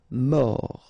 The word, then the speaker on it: mort: Final T not pronounced. O-R, or. Mort.